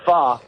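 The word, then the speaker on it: pho: Fo is what people you can call it fo, but it's really called fa.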